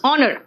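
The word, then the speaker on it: honour: गलत कर देते हैं इसलिए कई लोग कह देते हैं हनर what is Hunar it इज not Hunar it इज ऑनर तो ऑनर में एज क्या है साइलेंट है अब आओ नेक्स्ट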